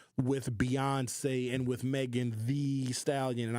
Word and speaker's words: Thee: Beyonce and with Megan Thee Stallion. And I pronounce it "the" because she has 2 E's in "the."